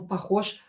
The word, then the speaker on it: похож: Voiced consonant Ж located at the end of the word will become unvoiced, so we will pronounce it as sh.